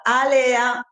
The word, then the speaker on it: Alea: Allora, Alea, che A- alcuni dicono Alea, a- però a- noi Alea.